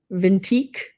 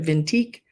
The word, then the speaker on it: Vintique: n t q e vintique the vintique not vintage but V antique I think it's how you say it scavenger so it's the